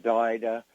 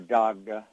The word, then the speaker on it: Dagda: and they would have the Daida or Dagda, as it's sometimes mispronounced, and and perhaps Bridget, whose holiday was just celebrated here recently.